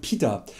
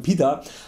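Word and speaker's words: पित्त: Doshas, Vata, Kapha und Pitta. Die korrekte Aussprache wäre Vata, Kapha und Pitta. Aber ja, ich nenne sie einfach weiter Vata, Kapha und Pitta, weil es mir einfach angenehmer über die Lippen geht und an der Bedeutung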